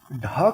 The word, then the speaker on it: ढ़: इसका उच्चारण करेंगे ड़, ड के नीचे बिंदी लगा के ड़ बन गया, और ढ के नीचे बिंदी लगा के ढ़ बन गया।